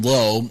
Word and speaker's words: Lowe: a guy named Brandon Lowe and a guy named Josh Lau. They pronounce their last names differently, even though they're spelled the exact same. One's Lowe and one's Lau.